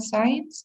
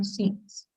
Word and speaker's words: scenes: to a votes also pronunciation of the word scenes remember it's not science it's you know scenes right definitely that and